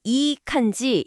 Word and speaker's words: いい感じ: 발음은 이칸지 이렇게 하면 되고요.